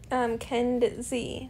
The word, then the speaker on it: Kedzie: You know, there's this company that's named Kenz. Like, it's spelled KEDZIE. So it's like almost my name, but not.